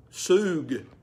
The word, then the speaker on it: sug: Sug. S-U-G is its spelling, and S-O-O-G is its pronunciation.